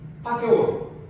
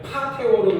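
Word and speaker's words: fateor: 제가 여기 고백하다 확인할 때 배웠던 건데 파테오르 이게 우리나라 이름 그대로예요. 파테오르 요거는 이제 F 발음 살짝 P 발음이 아니기 때문에 파테오르 그러면 이거는 아버지에 가까운 그 발음을 그렇게 하면 안 되고 파테오르.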